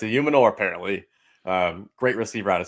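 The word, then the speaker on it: Ayomanor: 44, Elik Ayumanor, wide receiver out of Stanford. I just found out that's how you pronounce it, like yesterday. I've been saying Io Manor this whole time.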